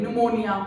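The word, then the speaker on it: pneumonia: से स्टार्ट होती है निमोनिया पनमनियन होता है तो पनमनियन बोलना है आई एम जस्ट टेलिंग वो साइलेंट होता है ऐसे ही न्यूमेटिक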